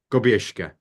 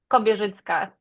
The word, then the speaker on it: Kobierzycka: Kobierzycka. Almost. Can you say it, please? Kobierzycka. That's a Kobierzycka. tough. Yeah, that's a tough I missed one. that whole syllable, actually.